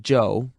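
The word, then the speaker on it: Chou: is amazingly cooperative joe spell it c-h-o-u if you want to be exotic it's still pronounced joe and that's his name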